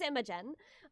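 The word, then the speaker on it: Imogen: I wanted to make sure I was pronouncing it right. It is Immigen.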